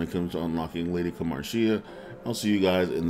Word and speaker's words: Kamarshea: you now have unlock the lady Kamar lady kamaria there we go that that's how you say